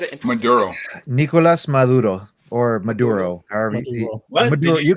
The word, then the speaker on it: Maduro: Nicolas Maduro or Maduro. What Maduro, did you say? Menudo? Maduro. So in our Spanish accents, we would just pronounce it as Maduro, basically. But you can just say Maduro if anything.